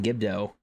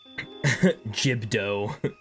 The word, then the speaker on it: Gibdo: Mctar rock, Thunder Blight, Water Blight, and Queen Gibdo. Ooh, I totally forgot about Queen Gibdo.